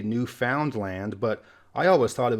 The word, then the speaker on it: Newfoundland: by the Canadians themselves it's actually Newfoundland the emphasis is at the land at the end and similarly to go